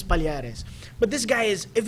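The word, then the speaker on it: Palhares: know, Palares, you know, I I kept calling him Paul Harris for the longest time. Yeah. How to say his name is Palares. And he's he's clarified that with especially Bruce Buffer. Yeah. And Joe Rogan and Mike Goldberg. So, how to say his name is Paleares.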